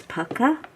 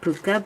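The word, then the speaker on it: Pukka: pronounce this particular brand my partner teacher says it's pakka i always said puka but maybe it is pakka i just had this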